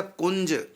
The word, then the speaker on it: कुंज: कुंज। तो या हो गया, अब ऊपर बिंदी या का उच्चारण होगा।